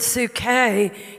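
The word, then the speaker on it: ψυχή: there in 3 john 2 is the word su-kay in the greek p-s-u-c-h-e pronounced su-k and su-k is is our breath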